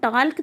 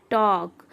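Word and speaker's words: talk: जैसे हम टाल्क तो नहीं बोलेंगे ना, हम बोलते हैं टॉक, तो यहाँ पर ल साइलेंट है।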